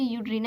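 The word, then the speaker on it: Eudorina: ये यूड्रीना को हम ई भी लिख सकते हैं, यहाँ ई साइलेंट होता है, फिर भी हम इसे यूड्रीना ही पढ़ेंगे।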